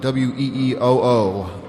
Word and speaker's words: Wee-oo: They spell it W-E-E-O-O, Wee-oo, released by Skyway Records